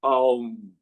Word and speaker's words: Om: Now, the Om is pronounced differently. When you are doing your third eye chakra or your Anya chakra, you pronounce Aum, A-U-M. But when you meditate on your Sahasrara chakra, you pronounce Om, O-M. That's the difference.